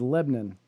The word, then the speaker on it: Lebanon: The city that it's being held in is Lebanon, which is the correct way to pronounce that.